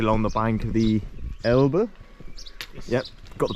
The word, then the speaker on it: Elbe: Now we're just sort of walking along the bank of the Elbe. Yes. Yep, got the pronunciation right, it's good.